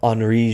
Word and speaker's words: Henri: by the name of Henri Giraud. Yes, the H is also silent in French. I typoed out of habit. Henri with an I at the end. Henri Giraud was a major